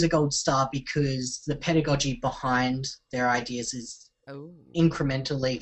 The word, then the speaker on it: pedagogy: To me, I call it pedagogue. I'm totally probably pronouncing it absolutely wrong, but yeah. It's spelled pedagogy. That's how you spell it. Padagy. But it's spelled pedagogy and pronounced pedagogy. Far out. Pedagogy. It's pronounced pedagogy.